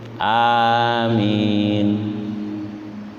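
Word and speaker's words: آمين: Enggak boleh ada tasdidnya amin, enggak boleh. Amin.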